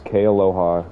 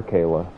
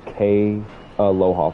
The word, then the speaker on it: Kay Aloha: college her name was kay aloha couldn't call her kayla couldn't call her k you had to say k aloha four syllables i was just like